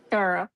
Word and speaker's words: Cairo: Even though it's spelled like Cairo, like Cairo, Egypt, it's spelled like that, but it's pronounced Carol. Carl.